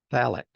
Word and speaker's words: Falk: My last name used to be, I would say that Falk or Falk. Oh, I see. He said sheepishly, pronounced phallic.